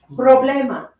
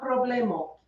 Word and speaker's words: problema: The stress falls on the next to last syllable. Like amo. This is rule 1. It goes on the next to last. A vowel, N or S. Let's see here. Oh, here's one. Problema. It's not problemo.